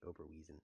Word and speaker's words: Oberweisen: It's Oberweisen, by the way. It's pronounced Oberweisen.